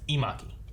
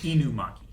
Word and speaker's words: Inumaki: But his name is Imaki. So we have a Maki and an Imaki. I think it's Inumaki.